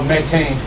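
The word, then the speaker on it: Mateen: amen No No's nephew what's your name oh Meine spell it for me m a t e e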